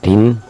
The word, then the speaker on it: กฐิน: ใจ กระฐิน คือ อ่า อ่าน ว่า กฐิน ก ไก่ ถ ฐาน สลี หน่อ หนู มัน